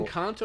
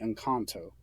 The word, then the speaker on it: Encanto: new disney animation movie is it an encounter or a cantu are you mispronouncing that or am i mispronouncing that the way they said it in the movie was definitely in kanto okay i've been wrong